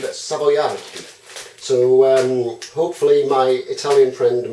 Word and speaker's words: Savoiardi: They're like a hard sponge, but the ones you want are these, which are an Italian one, and they are pronounced, I believe, Savoiardi.